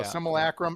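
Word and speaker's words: Simulacrum: Similacrim. Now, tier four. Similacrim was my toughest.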